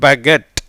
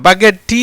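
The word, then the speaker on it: baguette: அப்போ ரெண்டு டைம் இட்டு வந்தால் கொஞ்சம் ஓசையை இழுத்து உச்சரிக்கணும், கொஞ்சம் அதிகமாக உச்சரிக்கணும். இதுக்கு என்ன இங்கிலீஷில் பகெட், என்னது பகெட். நான் பகெட் டீ இல்லை, சரியா?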